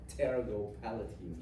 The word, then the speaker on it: pterygopalatine: So one of these ganglion is referred to as the pterygopalatine ganglion. Obvious, the P is supposed to be silent. It sounds better when you pronounce the P. So pterygopalatine ganglion.